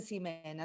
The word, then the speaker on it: Ximena: Decime vos bien cómo se dice. No importa, me hago cargo igual, me hago cargo igual. Está bien. Ximena es, no sé. Ximena, mis padres me dicen Ximena, así que yo calculo que esa era la intención.